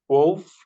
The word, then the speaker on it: wolf: Most of the words, if we have L before the final letter, the L is silent. It is written, but we don't say it.